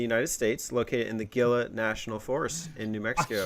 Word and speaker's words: Gila: kill a gorilla it's it's in spanish you pronounce it hela what other g word